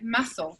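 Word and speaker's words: muscle: esta manera por ejemplo músculo en inglés se dice más o no se pronuncia la sed pero igual se usa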